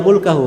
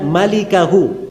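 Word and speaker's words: مَالِكَهُ: Itu bukan bacanya illa mulkahu. Memang mim lam kaf ha. Tapi bukan mulkahu bacanya. Bacanya illa malikahu.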